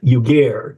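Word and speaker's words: Yugair: go say it again it's like y u g a i r yugar you have to spelling then it's easy okay thank you Alder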